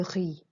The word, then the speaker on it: riz: J'aime le riz. Okay, and notice you don't pronounce the Z, you pronounce the I sound here. J'aime un peu la salade verte.